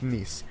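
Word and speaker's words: gneiss: casket there's also g-n-e-i-s-s which is pronounced nice don't ask me why it's pronounced like that my brain has wrinkles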